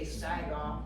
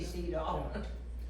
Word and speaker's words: Siedhoff: Some might say Sidoff, but we say Cedo.